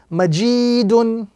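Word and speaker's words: مَجِيدٌ: So this word will be correctly pronounced majidun, with the prolongation or the emphasis on the second letter because of the ya madda.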